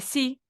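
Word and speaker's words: 四: a el tres San el cuatro se escribe Sí pero se dice sí como una abejita el cinco u que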